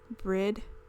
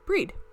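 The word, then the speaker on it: Bríd: It's pronounced with a long E. Breed. Similar to the English word breed, but the final D is like D in Bridget.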